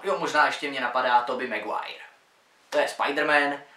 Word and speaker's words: Tobey Maguire: Jo, možná ještě mě napadá Tobey Maguire. To je Spider-Man a každý jeho jméno vyslovuje jinak, ale správná výslovnost je Tobey Maguire.